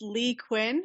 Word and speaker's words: Leigh Cuen: a little bit uh imagine Dr Quinn Medicine Woman the old TV show that's what my name is pronounced like um and in terms